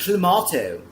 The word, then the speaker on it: Clamato: If I'm going to be corrected and it's called clamato, I'm going to say it with that emphasis every single time. It's clammato.